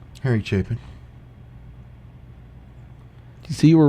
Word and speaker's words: Harry Chapin: See, he said Harry Chapin.